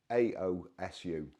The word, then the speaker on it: AOSU: people always send me things that I can't pronounce I think it's aosu auu a anyway it's aosu so the email me and asked me if